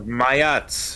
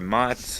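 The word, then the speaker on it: Maat: Feather of Mayat, or Mat, or however people want to pronounce it, spell it. Well, it's M-A-A-T.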